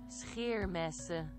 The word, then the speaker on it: Scheermessen: Yeah, I was pronouncing it the German way, which is just shh. Scheermessen.